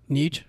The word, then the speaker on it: Nietzsche: Is that the right pronunciation? I think it's Nietzsche. Nietzsche.